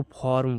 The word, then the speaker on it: firm: रहता है, देखिए यदि किसी वर्ड में आई के बाद आर रहता है और उसमें कोई दूसरा वोवेल ना हो, वोवेल का मतलब AEIOU, इनमें से कोई दूसरा वोवेल ना हो और आई का उच्चारण अ किया जाता है, तब आई का उच्चारण अ किया जाता है। तो जैसे कि एग्जाम्पल में देखिए यहाँ पर लिए हैं FIRM, इसको फॉर्म पढ़ेंगे, इसको हम फॉर्म पढ़ेंगे।